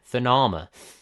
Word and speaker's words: Sonoma: I honestly haven't heard anybody pronounce this one. Is it Sonoma. Sonoma? Yeah, Sonoma.